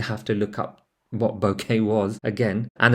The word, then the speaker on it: bokeh: to look up what bokeh was again and the pronunciation is supposed to be pronounced similar to bouquet but not quite like it um it's basically a